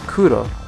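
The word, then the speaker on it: くろ: is the character do they're all pronounced between r and l this is which means six and this is my favorite color kuro which is black and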